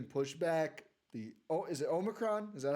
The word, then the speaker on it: omicron: games are getting pushback the oh is it omicron is that how you say it yeah that's